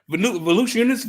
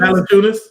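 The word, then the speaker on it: Valančiūnas: Volusiunas, how you say his name? Valanciunas.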